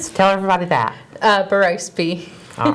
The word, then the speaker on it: Berrospe: to say it wrong tell everybody that uh baros all right thank you and thank you for